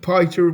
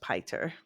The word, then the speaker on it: Piter: It should be pronounced Piter, but Yeah, hey, the name is so Dutch and it's Peter.